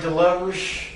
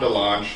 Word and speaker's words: DeLonge: Am I saying it right? DeLuge? Tom DeLonge. DeLonge, okay.